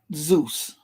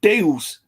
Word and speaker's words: Zeus: When you say the Greek god Zeus is not pronounced with a Z, they pronounced it with a D. It would have been more like Deus. It wouldn't have been Zeus.